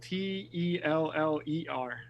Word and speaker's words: Teller: i might be getting her last name wrong it's spelled t-e-l-l-e-r tell her okay scary teller yeah yes yes um i